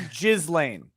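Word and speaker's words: Ghislaine: but you've got to pronounce her name right it's jizz Lane I said Elaine I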